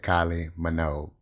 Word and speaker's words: Kylie Minogue: into youtube and that that is how they pronounce that kylie minogue you can also type it in the google